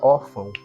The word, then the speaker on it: órfão: aqui o segundo exemplo na palavra orfão ca bônica é or portanto uma paroxítona terminada